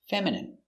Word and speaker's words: feminine: Pronunciation feminine. E fe m fem i femin feminine. I feminine. Feminine. M feminine. Feminine. Feminine. stress on the first syllable.